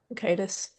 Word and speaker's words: Bakaitis: Bakaitis. Hey. Bakaitis. Thank you. And MKee Czerwiec. I saw 2 pronunciations for that.